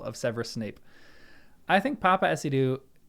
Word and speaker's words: Paapa Essiedu: Papa IDU okay so that's how you pronounce it Papa Ido has been cast as